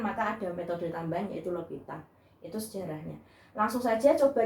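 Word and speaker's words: L'Hôpital: Dan yang ketiga itu ada metode L'Hopital. Tulisannya L'Hospital, tapi ini dari bahasa Prancis, makanya bacanya L'Hopital gitu ya.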